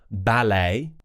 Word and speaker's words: ballet: So, for example, ballet, gourmet, and buffet, where we're going to do an A sound and we've kept the kind of French style pronunciation.